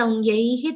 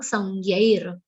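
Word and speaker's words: संज्ञैर्: Don't say saungyaihi, that's wrong. Saungyair.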